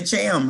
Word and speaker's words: Cham: are pronouncing it correctly you just say cham right yes jam all right that's how it's pronounced just think of champion in the first four letters of champion is cham not right arrogant but